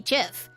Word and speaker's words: GIF: before gift was correct I know technically the original was supposed to be GIF but like come on if you wanted it to be Jiff you should have spelled it with a j bologna baloney guacamole guacamole